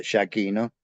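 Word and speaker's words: Giacchino: kiroga lo via jachino nosotros decimos jachino porque yo sé que en italiano se pronuncia shino pero como era argentino de pura sepa lo pronunciamos en castellano no y es hí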